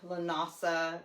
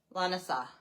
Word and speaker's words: Lughnasadh: Lughnasadh. No, what? What's the other one? Lughnasadh, something like that.